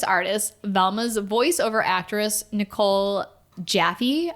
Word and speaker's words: Jaffe: During a table read for the voice artist, Velma's voiceover actress, Nicole Jaffe, apologies if I mispronounced your last name, and it's actually Jaff.